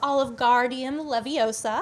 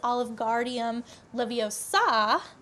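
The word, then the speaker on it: Wingardium Leviosa: So, for example, we have one such as we have Oligardium Leviosa, except it's actually pronounced Oligardium Leviosa.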